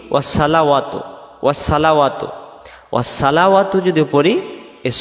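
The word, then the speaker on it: وَالصَّلَوَاتُ: তারপরে ওয়াসসালাওয়াতু, এই শব্দটা আমরা বলি কি ওয়াসসালাওয়াতু, ওয়াসসালাওয়াতু।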